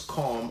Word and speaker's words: calm: r effectively in farm so calm and farm are exactly the same my ma is calm